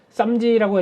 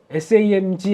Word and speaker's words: SAMG: 네, 이거 쌈지라고 했다가 욕 먹은 저 뭐라고 읽어요? SAMG 엔터라고 읽더라고요.